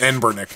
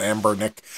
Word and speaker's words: Anbernic: i keep trying to i keep trying to say the name wrong but it's ann burnick not amber nick uh they they have